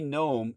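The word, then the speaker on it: Noem: The way like G N O M E like a garden gnome, but her name is spelled N O E M but it's pronounced the same way.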